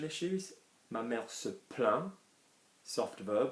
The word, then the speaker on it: plaint: Ma mère se plaint, soft verb, we're not going to pronounce the T, are we? There's no E after it.